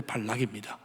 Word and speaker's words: 발락: 있습니다 모압 왕 발락이 발락이 자꾸 한국 발음이 좀 이상하죠 악으로 발음을 하는데 발락입니다 발락이 이스라엘이 적군이니까 이스라엘을